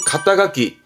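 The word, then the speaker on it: 肩書き: 발음은 가타가키.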